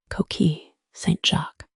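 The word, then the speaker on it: coquilles Saint-Jacques: It's pronounced Koki St. Jacqu, my face flames.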